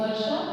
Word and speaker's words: वर्षा: रहा है र, तो वर्षा. लेकिन उच्चारण करते समय हम वर्षा, र का थोड़ी सी आवाज आती है, यहाँ पे पूरी आवाज नहीं आती, र नहीं आती, वर्षा र.